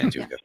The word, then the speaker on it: Antigua: Antigua? Yeah, Antigua.